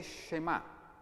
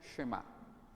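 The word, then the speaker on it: שְׁמַע: Escucha, en hebreo se dice Shema.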